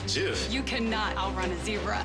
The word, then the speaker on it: GIF: It's pronounced Jif. You cannot outrun a zebra. Here's to good-natured civil debates. Also, it's GIF.